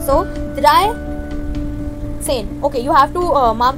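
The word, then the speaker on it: dreizehn: You have written in the correct manner, but you will pronounce it in an opposite manner. So, drei, zehn.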